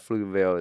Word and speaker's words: Pflugerville: the first thing about fluteville is like it's hard to spell how do you say it do you pronounce the p uh you don't but that's a p